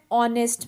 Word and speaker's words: honest: orange and umbrella and honest man and our now notice the word our and honest so in both these words h is silent so our and honest